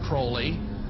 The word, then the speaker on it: Crowley: be have his name pronounced crowley to rhyme with holy and the satanist today